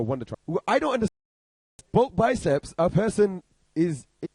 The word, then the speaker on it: Bulk Biceps: Bulge biceps, right? Is it bulge biceps or butch? Bulk biceps.